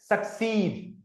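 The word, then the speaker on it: succeed: Verb form है ये जिसको हम प्रोनाउंस करते हैं सक्सीड। अब यहां पे देखो ये जो सिंबल है वो इस वोवेल से पहले। तो स्ट्रेस मैं कहां दे रहा हूं? सक्सीड।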